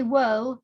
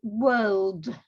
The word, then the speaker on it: world: Don't say whirl, say world.